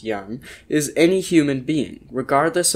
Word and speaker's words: jan: postcard or clay tablet a Yan pronounced Yan is any human being